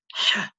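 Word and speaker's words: ح: This letter here is pronounced ha, ha. Okay. We use, in our system, we use the letter H, but we use an underline underneath to indicate the harshness of this letter.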